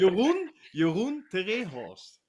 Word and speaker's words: Jeroen te Rehorst: So, for all the people who are just tuning in now, we are talking to Jeroen te Rehorst. I'm saying it right. Goed. Yeah, perfect. Jeroen te Rehorst.